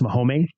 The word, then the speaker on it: Mome: I found it named it's actually pronounced mome so it's like Mom so mome is the goddess of